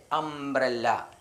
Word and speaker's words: umbrella: BRE അംബ്രേ, LLA അംബ്രല്ല. എന്താണ് വായിക്കുക? അംബ്രല്ല. ഇവിടെ യുവിന് ആ ഉച്ചാരണം വന്നുകൊണ്ട് നമ്മൾ ഏൻ ഉപയോഗിച്ചു.